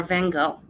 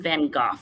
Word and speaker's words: Van Gogh: So first up, we have Gauguin or Van Gogh. Or as the British say, the British call him Van Gogh, and I think that's very strange.